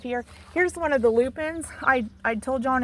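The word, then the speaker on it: lupine: here's one of the loopin I I told you on another video I I think we planted four dormant Lupin here I call them Lupin there it's spelled l u p i n e so if you love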